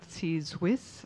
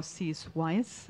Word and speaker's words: Cease Wyss: And today we are here with Cease Wyss, or Cease Wyss. I always pronounce it in a Swiss way. She pronounces it in an English way.